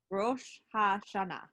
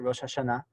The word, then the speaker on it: Rosh Hashanah: Rosh Hashanah. Yeah, and you can say it faster, Rosh Hashanah.